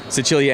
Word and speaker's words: Sicilia: I think what it is the actual way that you pronounce it, Sicilia, and it's based on early Sicily and like the government and everything that way.